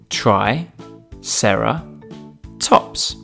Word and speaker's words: Triceratops: with us today Triceratops try Sarah tops can you say it with me Tri Sarah tops let's learn all about